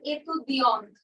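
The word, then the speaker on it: étudiante: তখন আমি বলবো এতুদিয়ন্ত এটা ইউজ করব আর উচ্চারণটা হবে এতুদিয়ন্ত হ্যাঁ কিন্তু যখন কোন একটা ছেলে বলবে যে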